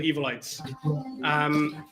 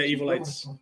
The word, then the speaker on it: Evolytes: So in English, you would pronounce it Evolytes. We have a slightly different pronunciation over here in Iceland. So both are technically correct, but yeah, Evolytes, absolutely. It's the way to go.